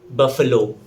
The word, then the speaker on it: buffalo: Its correct pronunciation is buffalo.